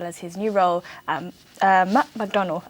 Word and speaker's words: Macdonald: his new role at Macdonald. I think that's how I pronounce it. I don't want to pronounce it as McDonald's because it's not McDonald's, but yes, it's a big company.